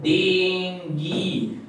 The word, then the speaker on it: dengue: female energy first of all please remember the pronunciation is dingy it is dingy it is not being who